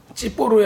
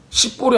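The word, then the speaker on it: צפור: 그리고 얘는 어떻게 발락은 찌뽀르의 아들이라고 지금 나와 있어요. 그쵸? 찌뽀르의 아들. 시뽀르이 아니라 찌뽀르예요. 원래 히브리 발음으로 하면 한국말로 써놔서 시뽀르라고 하는데 욕 같잖아요.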